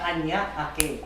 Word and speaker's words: Parañaque: Even if I kind of butchered it because Para Parañaque. para añaque. There you go. Parañaque. So it's 3 words that just got mushed together to become Parañaque.